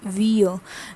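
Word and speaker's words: vieux: next is vo vo what is the pronunciation it's vo vir is opposite to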